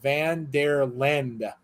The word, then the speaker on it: Vanderlind: don't say it right it's pronounced van der lend okay lend i was thinking like america like paul lind the celebrity that's that's what made me said it's land okay okay fair enough a